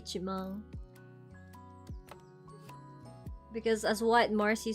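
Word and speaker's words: 一万: So for m we say ichimang.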